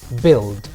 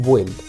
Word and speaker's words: build: Fíjate en la segunda palabra, por cierto, build. He escuchado muchas veces que le dicen build. Esa U es muda, no se pronuncia para nada, por lo cual queda como build, y el pasado y el participio, built.